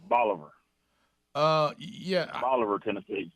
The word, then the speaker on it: Bolivar: you said this weekend you pronounced it bola liver i mean uh boulevard local pronunciation is bolivar uh yeah from oliver